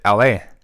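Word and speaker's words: Elhae: saying LA yeah that's how you say you pronounce it la la yeah so in his show I saw him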